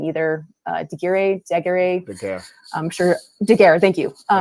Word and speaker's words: Daguerre: Wait, how did you pronounce it? I forgot. It's a Daguerre.